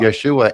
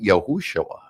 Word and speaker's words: Yeshua: Yeshua, and it's also, some people pronounce it Yahushua.